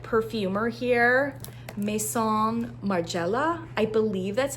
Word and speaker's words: Maison Margiela: Parisian like perfumer here meon Marella I believe that's how it's pronounced Mason Marella I mean that's how we would say it in an anglicized way I'm I'm I can't